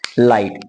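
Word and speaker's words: light: और ले लेते हैं एल आई जी एच टी एल को बोलते हैं ल आई को बोलेंगे आई क्योंकि जी एच आया है तो लाई हो गया लेकिन जीएच खुद साइलेंट है लास्ट में आ गया टी तो टी को पढ़ेंगे हम ट यानी बन गया लाइट यानी जी एच जब भी आएगा तब वो जीएच खुद साइलेंट रहेगा लेकिन आई अगर आ गया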